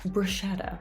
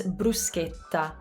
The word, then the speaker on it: bruschetta: it in italian it's bruschetta let's pay attention to some of the differences here in english i said bra in italian you say brew because brew the u is always ooh and notice how my